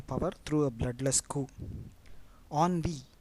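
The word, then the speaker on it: ennui: through a bloodless coup on v e n n UI most of the words starting with en are pronounced as on onv means boredom the class was filled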